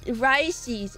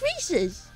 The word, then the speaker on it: Reese's: that's so silly Arvy do you pronounce the chocolate peanut butters Reese's or rice Rices it's Reese's they made a whole song